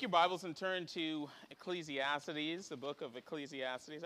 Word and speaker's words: Ecclesiastes: The Book of Ecclesiastes I few people in my life keep pointing out that I'm saying it wrong it's not Ecclesiastes it's Ecclesiastes apparently yeah the the syllable I keep messing it up so um it's